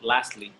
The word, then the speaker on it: lastly: for finally it's called lastly lastly right here and when you say the word lastly you don't really pronounce the t it's like last leaf